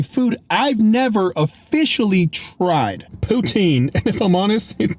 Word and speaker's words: Poutine: Poutine. And if I'm honest, it doesn't look too appetizing in the photo. And yes, I know it's pronounced Putin.